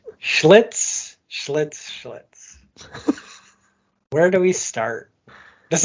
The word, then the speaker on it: Schlitz: This was not a Schlitz mistake.